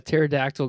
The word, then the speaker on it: pterodactyl: can't you hear a pterodactyl going into the bathroom why cuz they're because the p is silent there is a there is a p in pterodactyl nice teract guys I